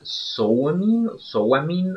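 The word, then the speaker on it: Samhain: En realidad se pronuncia Sowamin o algo así en inglés.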